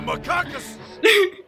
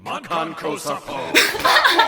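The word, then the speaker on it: Makankosappo: It's the Macacus. Makanaka. Makankosapo.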